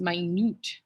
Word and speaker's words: minute: are only needed in that is not minute it's my newt spelled the same way it's minut quantities that means small